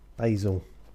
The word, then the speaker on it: Basil: Basil. If you no, that's just how Americans say it.